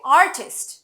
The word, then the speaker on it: artist: যেমন আর্ট, আর্ট থেকে আসছে আর্টিস্ট, নট আর্টিস্ট। আর্টিস্ট বলি না, কিন্তু আমরা বাংলায় যখন উচ্চারণ করি, অনেকেই আমরা বাঙালিরা আর্টিস্ট বলে ফেলি। নো, ইটস আর্টিস্ট, আর্টিস্ট, আর্টিস্ট।